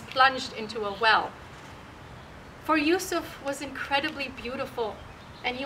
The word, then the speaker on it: Yusuf: in the Islamic tradition his name is pronounced with a Y with a ya so I'll use that because that's what I'm used to Yusuf and so she had